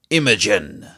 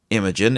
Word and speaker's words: Imagen: Last month, however, Google announced its own take on the genre, Imogen, and it just unseated DALL-E in the quality of its output.